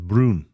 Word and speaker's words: brown: The word brown is pronounced Brun.